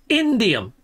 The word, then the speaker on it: indium: been saying to me Captain Steve pronounce it properly is indium indium okay I always say idiom okay right so here